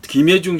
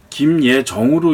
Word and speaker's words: 김예중: 음반 보면서 느꼈는데 그 김예중 씨라고 계시죠. 그런데 예중이라는 이름에서 중을 J-U-N-G 이게 정확하게 쓰셨습니다. 근데 그거를 잘못하면 김예정으로 읽을 수도 있고 그것이 혼돈되면 다른 발음이 나올 수도 있거든요.